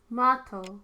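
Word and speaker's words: Matou: Mato. That's how you say it.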